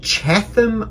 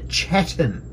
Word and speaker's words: Chatham: easternmost chatham islands and the sub-antarctic wall the chatham islands island it's pronounced the chetan island southernmost point the campbell islands the country